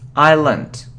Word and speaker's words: island: So it isn't Iceland, no, island.